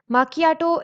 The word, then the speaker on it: macchiato: Macchiato is pronounced as macchiato.